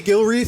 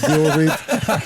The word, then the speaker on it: Gilreath: Gilre, did I pronounce that right? Yes, you did. Yes, Gilre.